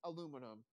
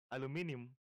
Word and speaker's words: aluminium: No, like it's pronounced aluminum. Everyone says it aluminum. Aluminum. I know. Yeah, I know someone who says like a really weird way. Aluminium.